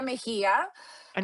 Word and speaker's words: Mejia: So, it's Mahia.